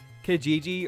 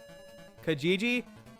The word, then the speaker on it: Kijiji: Kijiji. Yeah, but it's not spelled like that. It's K I J I J I.